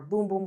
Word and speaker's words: Bum Bum: is this Soul janiro bum bum or boom boom cream as they advise as to pronounce it I'm allergic to that